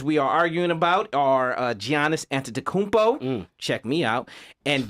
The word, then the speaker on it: Giannis: are arguing about are Giannis Antetokounmpo, check me out, and James Harden. The G is silent.